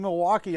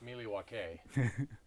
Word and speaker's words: Milwaukee: Yeah, actually it's pronounced Milwaukee, which is Algonquin for the good land.